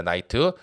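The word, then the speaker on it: knight: 나이트.요 요 K가 발음이 안 돼요.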